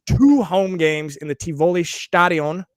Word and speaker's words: Tivoli: They're going to be playing two home games in the Tivoli. How was that pronunciation, Silus?